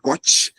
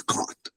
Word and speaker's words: caught: Douglas, great pronunciation. It's not cot, it's caught. Okay.